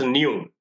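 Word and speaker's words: ν: this is pronounced as the symbol is pronounced as new frequency is denoted with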